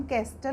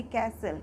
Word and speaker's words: castle: CASTLE, इसको हम कैस्टल नहीं बोलेंगे क्योंकि टी लेटर से पहले हमारा S है। तो अगर हमारा टी लेटर से पहले किसी वर्ड में S होता है तो हमारा टी साइलेंट हो जाता है। तो इसको हम बोलेंगे कैसल।